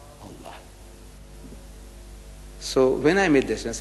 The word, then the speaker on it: Allah: and make an effort it is not it's Allah not Al is Allah say Allah Allah so when I made this look here it